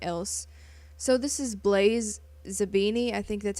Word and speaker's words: Zabini: the movies and shit, I would pronounce it as Zambini, like Zambine, not E-I. Whoops.